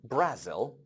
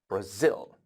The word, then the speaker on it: Brazil: country it is not Brazel no no no it's not Brazel it is Brazil Brazil because the stress is on the sill the question is